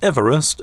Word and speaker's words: Everest: George whom the mount mugged the moniker off pronounced his name Eve rest not ever est but I dig rest since its quote unquote discovery by the British in 1849.